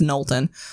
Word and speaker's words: Knowlton: It's not how you say my last name. It's Knowlton. Well, just for people who don't know. I like to pronounce all the letters that I see. It's not phonetic.